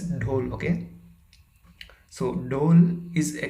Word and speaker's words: dhole: is actually called whole the spelling is dho and e but it is pronounced as dole okay so dole is